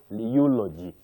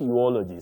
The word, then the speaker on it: eulogy: Then we say eulogy. Eulogy. Not eology.